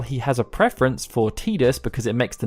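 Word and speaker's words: Tidus: though he has had his name pronounced as tedious in Dissidia world of Final Fantasy and the Final Fantasy 10 audio drama which has confirmed Square Enix's official stance but even some Square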